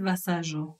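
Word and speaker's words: Vasallo: amoureusement elle s'appelle bichid vassajo c'est c'est ça s'écrit vasalo hein pour le pour les pour les français pour les Français oui V a S a del O Brigitte voilà comme Brigitte tout simplement elle est catalane d'origine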